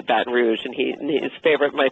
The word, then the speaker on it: Baton Rouge: and and it also said Baton Rouge correctly which he says it with a hard G you know like it's bat roue you know like like people there would say bat Rouge and he his favorite